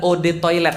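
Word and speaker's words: eau de toilette: Eau de toilete artinya adalah o toilet bacanya.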